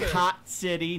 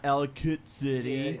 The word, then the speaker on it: Ellicott City: Ellicott City, not Ellicott City.